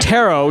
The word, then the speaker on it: tarot: the show thank you this is pronounced tarot do you actually do